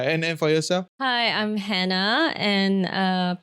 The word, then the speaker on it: Hannah: Hi, I'm Hannah, and people in France call me Anna because they don't pronounce the H.